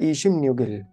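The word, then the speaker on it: 이십육일: 26 तारीख को स्पेलिंग अगर आप देखते हैं तो आती है ईशिप युक इल, लेकिन इसका जो उच्चारण होगा ना वो होगा ईशिम न्यूगिल, ईशिम न्यूगिल।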